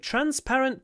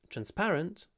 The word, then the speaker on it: transparent: it is made of transparent plastic uh that is plastica I guess so transparent transparent transparent transparent transpar yeah the stress is on the second syllable transparent transparent so that